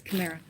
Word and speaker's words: chimera: Chim- chimera? It's chimera.